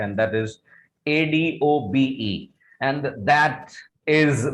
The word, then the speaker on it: Adobe: This is नॉट अडॉब। बहुत सारे लोग इसको अडॉब अडॉब अडॉब बोलते हैं, but actually it इज नॉट अडॉब, this is अडोबी। This is Adobe. Once again, the pronunciation of this word is Adobe.